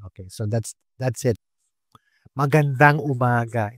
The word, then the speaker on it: Magandang umaga: so that's that's it Magandang umaga instead of Just maganda umaga Do you hear the difference Magandang umaga that's the right way to say it good morning when you